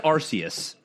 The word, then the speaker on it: Arceus: like i always said arceus yeah danielle looked up some videos it's arceus like officially on a pokemon pokedex site it's arceus that's dumb as hell